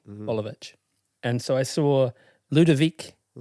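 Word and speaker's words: Boljevic: His last name is Bolivich and it's spelled B O L J E V I C. Bolivich.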